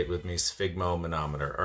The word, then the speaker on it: sphygmomanometer: If you have been diagnosed with high blood pressure, first of all, you should have your own sphygmomanometer.